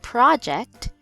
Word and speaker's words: project: There's two different ways we can pronounce this word. First, project is a noun and a project is a plan or idea for doing something.